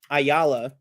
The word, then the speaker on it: Ayala: tough for Charlie Cox I think every time he announces it or pronounces it it comes out a little Mush Mouth he's like Mr Isa it sounds a little weird but it's Hector Ayala um and I want